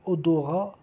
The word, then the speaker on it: odorat: E o T não se pronuncia de odorat, é uma palavra masculino.